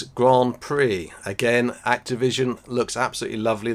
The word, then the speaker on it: Grand Prix: Easily mispronounced, but it is Grand Prix.